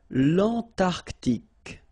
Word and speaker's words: l'Antarctique: Remember, Q-U-E here, it's K. Okay, so tic. L'Antarctique, l'Antarctique.